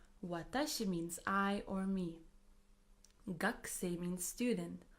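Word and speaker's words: 学生: Gakusei means student. Although we write it as gakusei, we pronounce it as gakusei, gakusei, as if the u from ku disappears.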